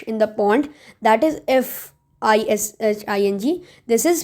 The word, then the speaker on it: phishing: That is FISHING. This is P. Okay, fishing. This is different, but the pronunciation is mostly the same.